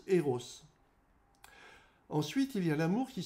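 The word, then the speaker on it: ἔρως: amour est associé au mot grec qui se prononce eros ensuite il ya l'amour qui s'élargit à la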